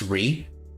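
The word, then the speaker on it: Rei: In case you forgot who Ree was, even though it's spelled like Ray, but it's pronounced Ree.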